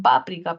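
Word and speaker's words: páprika: el condimento no y muchos le dicen páprica páprica como la lengua original de repente algunas personas lo vieron y dicieron y le le le entendieron leyeron pronunciaron paprica Por qué Porque la tendencia del español es a fomentar palabras graves sabemos que el acento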